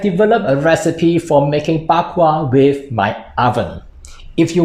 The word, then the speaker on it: bak kwa: Hi guys, Bak Kwa, as pronounced in Hokkien or Rogan in Mandarin, is the Chinese version